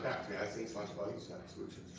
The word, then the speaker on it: Sláinte: So there's a great phrase in the Celtic nation, Sláinte. Can you say that? Sláinte.